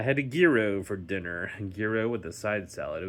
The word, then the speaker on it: gyro: It's not a euro. Gro. I got to pronounce the G.